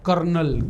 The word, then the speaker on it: colonel: Okay, बोलो कर्नल, कर्नल की spelling क्या है। तो देखो COLONEL, लिखते हैं कोलोनल, और पढ़ते क्या है, कर्नल।